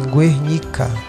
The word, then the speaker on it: Guernica: Então, ele se filiou ao Partido Comunista e realizou uma de suas obras mais significativas, que foi a Guernica, se pronuncia assim, Guernica, em 1907, onde retratou essa obra aqui, ó.